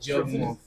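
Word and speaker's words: Yawgmoth: It's pronounced Surprised too that Then what? Yagmoth.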